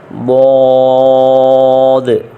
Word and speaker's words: ضاد: زا، سین، شین، صاد۔ صاد اور ضاد کو پڑھتے ہوئے سپیلنگ میں جو آخری دال ہے اس پہ حرکت آئے گی: صاد، ضاد، طا ظا عین۔ یہ